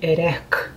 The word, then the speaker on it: Erech: que é um lugar chamado a pedra de erek que é complicada de falar assim é meio